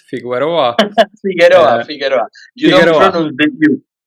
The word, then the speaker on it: Figueroa: My name is Rasmus, and I'm here today with Figueroa. Is it right? Figueroa. Figueroa, Uh, Figueroa. You don't Figueroa.